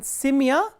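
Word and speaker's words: семья: So, if the ending is stressed, for example, simya, in simya the ending is stressed, the stress is on ya.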